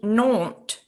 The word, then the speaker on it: Nantes: I'm not sure why we've not heard of Nantes. Paris. Is it not with the T at the end? Yes. Can you pronounce that again?